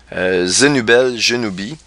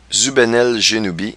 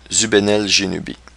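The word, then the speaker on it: Zubenelgenubi: correspond précisément à l'étoile Zénubel Genubi. Je vais vous la montrer. Une drôle de prononciation. Zubenel Genubi.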